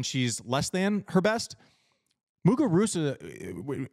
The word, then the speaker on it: Muguruza: less than her best mugar rousa I have to say mugar Rua because that's another one where I have to say her name the way that they say it in in her country but I did but